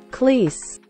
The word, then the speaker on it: Cleese: Se pronuncia Cleese.